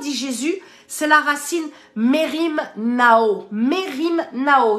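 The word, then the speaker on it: μεριμνάω: C'est la racine Merim Nao. Merim Nao. Ça s'écrit comme ça se prononce. M-E-R-I-M. N-A-O, Merim Nao, ça veut dire ne prends pas soin de quelque chose qui t'emmène dans le souci.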